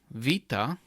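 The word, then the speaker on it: βήτα: and the word father the Greek letter Vita is pronounced like the English letter V in the word very now on this third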